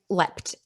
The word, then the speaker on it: leapt: and intonation very good so l-e-a-p-t is lept which is the past